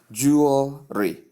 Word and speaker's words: jewelry: You should say it smoothly as jewelry, blending the syllables.